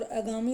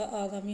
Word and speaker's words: आगामी: से लिखा जाएगा और अगामी नहीं होता आगामी होता है निम्न में से वर्तनी